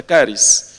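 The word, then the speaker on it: χάρις: es caris o charis se escribe charis pero se pronuncia caris en griego caris o sea aquí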